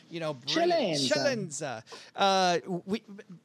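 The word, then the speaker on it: Celenza: I like that pronunciation of my last name. Tell me if we can't, well, I got to do the Italian. I got to, Chalenza.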